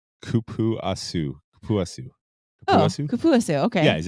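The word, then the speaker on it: cupuaçu: It's kupuasu.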